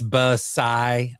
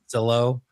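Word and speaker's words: Basallo: Like it's Basai. Oh, No. Not Basillo.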